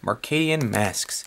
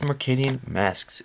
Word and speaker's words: Mercadian Masques: is from the set mark alien masks took me a really long time to realize how to pronounce the name of this set but it is McKinnon masks contains 15 additional cards